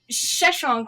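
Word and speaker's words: Sheshonq: Indiana says, oh, the Shishak, which is the Egyptian pharaoh known as Sheshonk, or I say Sheshonek, which is how it's phonetically spelled. Tomato, Shishon. Oh, we have a linguist on our hands. That Sheshonk looted the Ark from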